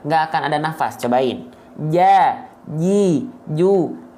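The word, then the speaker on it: ج: Ja, ji, ju, aja. Bukan ca, ci, cu, aja. Ya, oke, paham? Itu cara melafalkan jim.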